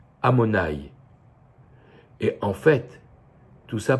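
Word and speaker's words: Adonaï: commentaire de Rashi que le nom de Dieu yudkevavke on n pas le droit de le prononcer comme il est écrit au lieu de lire you kevfke avec les voyelles que vous connaissez on lit amonaï et en fait tout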